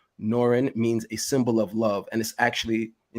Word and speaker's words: Nor-Yan: It's pronounced Norrin. Norrin.